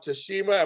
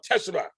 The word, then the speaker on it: Teshima: to do is tashima and teshema how you doing doing great james and uh you're correct that uh the first one is the correct pronunciation second more anglicized here but that's how